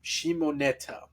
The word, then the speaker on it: Shimoneta: in the thumbnail, we used the anime Shim Shimonetta, or at least I'm hope I'm pronouncing it correctly.